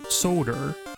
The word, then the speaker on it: solder: like solder Soul sold solder I guess it's the L really that you don't pronounce but like like so